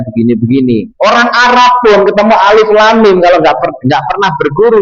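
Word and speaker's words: الم: Kita enggak boleh baca alif lam mim itu alam atau alimun, lamun, mimmun. Enggak boleh.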